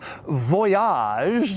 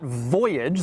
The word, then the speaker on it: Voyage: And by the way, yes, it is pronounced Voyage, not Voyage.